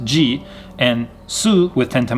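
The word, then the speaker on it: じ: 10 10 marks so she with ten time marks is pronounced ji and su with ten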